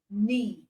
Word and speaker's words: knee: And you find it in words like knife, no, knee. All right. So you have knife, no, knee. So it means this letter K are silent. K in these words is silent.